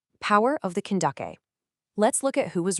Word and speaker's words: Kandake: Candace wasn't actually a personal name at all. Actually, it was just the Greco-Roman mispronunciation of a Meroitic royal title, Kandake.